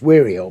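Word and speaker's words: Wearyall: It's pronounced Wearill, but it's spelled weary all.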